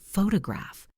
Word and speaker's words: photograph: Think about the word photograph. The stress is on the first syllable, pho to graph. Now, the person who takes the picture, a photographer. The stress moves. Now, the adjective, photographic. The stress moves again.